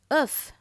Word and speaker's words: œuf: E-U or O-E-U can also be a lighter E. Fleur. F-L-E-U-R, fleur. Œuf.